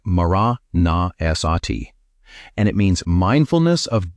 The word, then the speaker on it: maraṇasati: He called it maraṇasati. Say it like maraṇasati.